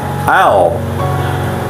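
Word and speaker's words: אֵל: Ayat berikutnya adalah El ya, pelafalannya Ale, El.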